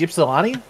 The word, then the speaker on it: Ypsilanti: Like he did his eat the menu for Domino's today, and I think it was Ypsilanti. That's what it is. We could get CMC in here for a better pronunciation since he is a Michigan.